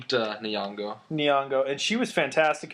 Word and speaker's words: Nyong'o: Lupita Nyong'o for 12 Years a Slave.